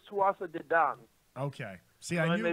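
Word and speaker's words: Tuatha Dé Danann: I believe, by the way, it's Tuatha De Dan. Okay. See, I I may be wrong. knew there'd be some kind of weird pronunciation because Gaelic doesn't sound the way it looks, and I had no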